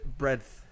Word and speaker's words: breadth: How do you say the word breadth? Breadth. Breadth? Breadth. Hair's, what, isn't it a hair's breadth? No, it's not a breath. It's a breadth.